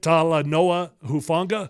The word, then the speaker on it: Talanoa Hufanga: Talanoa Hufanga?